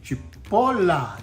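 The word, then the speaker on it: cipolla: chopped red onion and in Italian it's a Chipola Chipola that's right and uh in Italian it's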